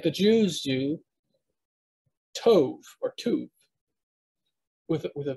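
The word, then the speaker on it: טוב: the hebrew word for good originally i was pronouncing it as phthobe with a sound but now i pronounce it like like the jews do tov or tube with with a vcn at the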